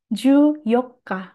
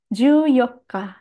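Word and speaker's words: 十四日: 14, Ju Yokka. Hati-hati ya, tidak pakai Nichi. Ju Yokka.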